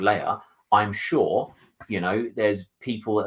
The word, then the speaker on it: Leia: It's again that kind of like a real-life setting, because a lot of people refer to her as Leah. She likes to be called Leia.